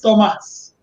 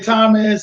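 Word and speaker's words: Tomás: It's Tomas. Tomas is with an accent on the A. Tomas. Okay. Some people say Thomas. Some people say Tomas. It doesn't matter to me.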